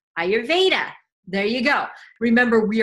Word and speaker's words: Ayurveda: how to say it practice with me now I your Veda I your Veda Ayurveda there you go remember